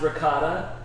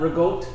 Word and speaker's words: ricotta: Hey, while we're on that, I want to say that mozzarella is pronounced mozzarella, ricotta is pronounced ricotta, prosciutto is pronounced prosciutto. It's not rigot, mozzarella, or prosciutto. Those are East Coast American.